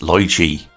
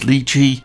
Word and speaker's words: Lychee: Before I begin, yes, I know it's pronounced Lychee, but they pronounce it as Lychee, and out of respect for them, I'll do the same.